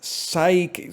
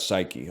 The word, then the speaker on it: psyche: Psyche. Silent letter at the start. Psyche.